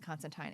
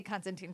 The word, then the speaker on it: Constantine: just came came out um I know it's pronounced Constantine it's never going to happen um it's is never going to happen everybody I'm going to say constanting till the day I die and Alan MO